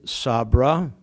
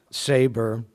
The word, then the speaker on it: Sabra: He called the venture United Sabra. Is that the way you pronounced it? Well, that's the Israeli version. Saber, with each letter representing one of your names, right?